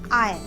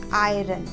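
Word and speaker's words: iron: Friends, इसका pronunciation होता है आयरन, नॉट आयरन।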